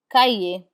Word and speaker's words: cahier: We do not pronounce ER, and the same holds true for IER. We do not pronounce the R in IER. Instead, it has the A sound.